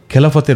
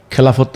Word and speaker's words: খেলাফত: খেলাফত রাষ্ট্র বা খিলাফা, আসলে শব্দটা আমরা যেহেতু একার দিয়ে উচ্চারণ করি, তাহলে খেলাফত বলি আমরা, যেমন ইবাদত, এলহাম, আর ইদানিং বলি খিলাফা।